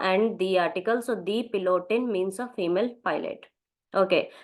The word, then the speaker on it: Pilot: pilot is called their pilot this is spelling is same but pronunciation is bit different so their pilot is